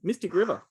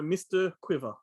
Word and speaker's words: Mystic River: had my video store people were asking for mr quiver they thought it was by mister as in mr and mrs mr quiver because they'd obviously